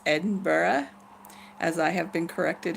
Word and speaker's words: Edinburgh: am in N ba it's not Attenborough or Edinburgh its Edinburgh as I have been